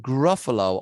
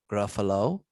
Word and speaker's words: Gruffalo: else something unique now the word gruffalo also doesn't rhyme with much perhaps except the word buffalo but then it kind of ends but it does rhyme with the phrase doesn't he know gruffalo doesn't he know and